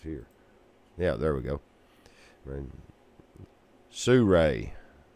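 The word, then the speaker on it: Sirui: Surray. According to YouTube videos, it's similar to saying Sue and Ray. S I R U I. And there is no A.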